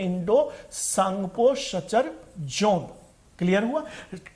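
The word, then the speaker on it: Tsangpo: इसे hinge line के नाम से भी जानते हैं, Indo सांगपो suture zone, clear हुआ? टी से, सांगपो टी से प्रोनाउंसिएट, टी को एस से प्रोनाउंसिएट करते हैं यहां पर।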